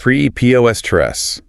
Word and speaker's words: preposterous: Preposterous. Stress on the second syllable. That last teresa's bit is a schwa sound.